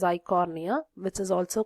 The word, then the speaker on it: Eichhornia: So this is water lettuce, and other example is Eichhornia. E is silent there. Okay, it is Eichhornia, which is also called as water hyacinth.